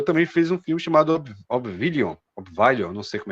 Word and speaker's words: Oblivion: É, é, inclusive o diretor também fez um filme chamado Obvilion, Obvilion, não sei como é que se pronuncia também. É BS, que é um filme, é, acho que é Obvion, né? Oblivion. Oblivion.